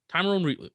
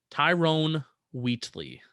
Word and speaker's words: Tyrone Wheatley: saying his name wrong no tyrone wheatley that's his name timeroon timer wheatley try it again tyrone wheatley there you go wheaties i have a